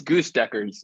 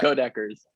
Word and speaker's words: Goedecker's: How did you pronounce it? I want to. It's Goose Deckers. No, I'm gonna feed you fake names. No, it's Goedecker's.